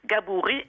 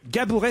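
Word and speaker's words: Gabourey: Comment on prononce son nom à cette jeune américaine? Alors là, c'est pas difficile. Gabouré Sidibé. Gabouré Sidibé.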